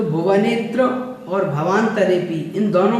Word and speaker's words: भवान्तरेऽपि: उसके बाद में आप चौथी पंक्ति में देखें तो भुवनेत्र और भवान्तरेऽपि। इन सभी में आपको ध्यान रखना है, भुवनेत्र और भवान्तरेऽपि है तो इन दोनों में ही आपको अवग्रह का उच्चारण नहीं करना है।